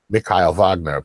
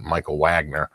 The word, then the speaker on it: Michael Wagener: it on YouTube is he pronounces it mikail vogner but we we all called Michael Wagener Michael Wagener that's the